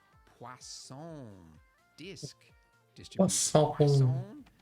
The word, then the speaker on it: Poisson: Poisson. There's no W in it, but I was told that that's how you say it. I guess it's French.